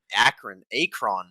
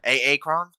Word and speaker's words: Akron: Akron. Sorry. Akron?